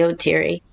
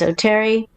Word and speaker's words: Oteri: wasn't that different because people in la would say cherio terry just goes the way it's spelt you know uh e-r-i-e-r-i but i grew up it was always so teary so i always say oh teary and if somebody says oh terry um it's fine otirio terry potato potato